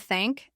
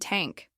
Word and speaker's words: thank: Marco would often pronounce words like think and thank as tink and tank.